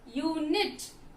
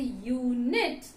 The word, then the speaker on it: unit: Then the next one you see, unit. I use, how do I pronounce? Unit. So when I say unit, my pronunciation sounds the U alphabet sounds as though Y-U, okay? So it sounds as Y-U, unit.